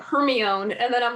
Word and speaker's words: Hermione: it so easy like i would not have pronounced hermione hermione when i read it i'm like oh my god i think i think i read it like hermione and then i'm like oh that's hermione like but yeah like so there were some